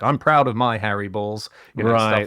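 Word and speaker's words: Baals: to say in the moment and so he pronounced the mayor's name Bales so he said mayor Bales is with us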